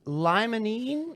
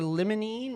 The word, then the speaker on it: limonene: Well, it's got myrcene, caryophyllene, and limonene or limonene. We're still on the jury's out on that. How we I like pronounce that. limonene. Limonene, yeah. I like them both.